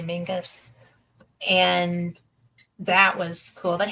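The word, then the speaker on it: Menzies: It's spelled Menses, but they say Mingus.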